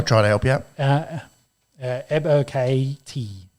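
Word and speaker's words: Ebiketie: Ebo KT. I think you just got to say it real fast. Ebo KT.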